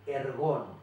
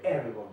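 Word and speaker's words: ἔργον: y también de ergón, mejor dicho, de ergon con acento en la E, que significa trabajo.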